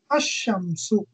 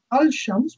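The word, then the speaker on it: الشمس: with a solar letter, the la of al is assimilated to the solar letter. For example, al shams, meaning the sun, is pronounced as ashamsu. Rather than al shams, we'll pronounce it as ashams.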